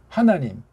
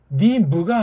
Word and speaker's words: 하나님: 하, 나, 님, 니무가 아니에요. 서양 아이들은 이게 님자 이렇게 발음이 잘 안 돼요. 조금 되려고 하는 측면이 있는 사람들이 모르지만 니무 이래요. 니무 그래요. 니무.